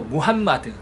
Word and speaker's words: 무함마드: 그리고 알라 그리고 이제 살펴봐야 할 게 중요한 것도 무함마드. 한국어에서는 이제 마호멧이라고 하고 마호멧 막 이렇게 발음하는데요. 역시 잘못된 표현입니다.